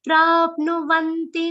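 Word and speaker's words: prāpnuvanti: Pra is followed by half pa and a complete na with a short u sound. Prapnuvanti mameva sarvabhuta hite rataha.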